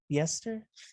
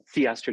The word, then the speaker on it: Theaster: And how do you pronounce this? Yeah. Yester? Theaster Gates.